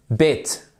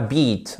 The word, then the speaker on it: bit: fait avec la gorge on vous dit pas bit on dit bit ok allez-y bit B bit OK et non pas beat ok bit maintenant comment